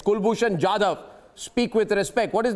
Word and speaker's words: Jadhav: Kulbhushan Yadav, you have received a slap from the International Court of Justice. And it's Jadhav, not Jadhav. Please get the pronunciation correct. It's Kulbhushan Jadhav.